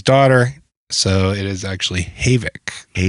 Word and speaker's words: Havik: Like everybody Maverick's Havoc 2. Yeah. Maverick's Havoc. So, everybody calls it the Havoc, but it is named U. Matt, the owner, is named after his daughter. So, it is actually Havoc.